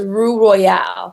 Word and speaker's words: Roux Royale: So it's Roux Royale. Roux Royale. Thank you so much. It's spelled ROUX, ROYALE.